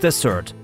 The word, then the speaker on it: Desert: Bar Harbor actually rests upon Mount Desert Island, pronounced Desert, because it's such a treat.